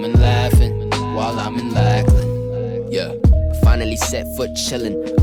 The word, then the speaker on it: Lackland: Also, it's funny how when people say Lackland, you don't ever really pronounce the D. Lackland. You say Lackland. Even I say it, Lackland. It just seems easier, Lackland. But obviously there's a D. It's just, I don't know why, it's just hard to pronounce that D when you say that word.